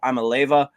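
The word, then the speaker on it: Iamaleava: But Nico Amaleva, I believe is how you say it, but a crazy last name.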